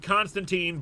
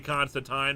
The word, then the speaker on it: Constantine: has always pronounced it Constantine but it is officially Constantine all the creators say it's Constantine in the comics it's officially Constantine rhymes with wine do you think that